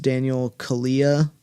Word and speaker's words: Daniel Kaluuya: I believe it's pronounced Daniel Kaluuya. I mean, I've seen interviews, but I'm not sure that's entirely correct.